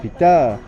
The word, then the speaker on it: Pita: Usually the second syllable of the name is stronger than the first, so my name is Pita. Not Peter, but Pita.